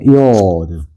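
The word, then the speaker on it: יוד: 그다음에 테트 테트 그다음에 요드 자 한번 읽어 볼게요.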